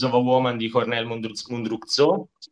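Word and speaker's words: Mundruczó: All'8° posto, come ha citato anche Baratta, inserisco Pieces of a Woman di Cornel Mundruzzo, si pronuncia, e quella prima mezz'ora, con quella prima mezz'ora che mi ha commosso, è un film veramente stupendo nella sua sensibilità.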